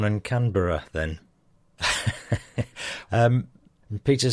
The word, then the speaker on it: Canberra: mate, a bit of strong pronunciation. Brisbane, Melbourne, Canberra. Says me, so it's not Brisbane, Melbourne and Canberra then.